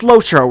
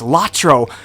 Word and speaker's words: LOTRO: weekly ello tiro lotro it's lotro right some people say oh it's you're pronouncing it wrong it's latro i'm sorry i must have passed out when you were passing out your copy of the lotro acronyms i say it's lotro and a lot of